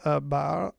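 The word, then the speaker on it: barre: bar mean a ballet fernand uh pronounced bar is a stationary handrail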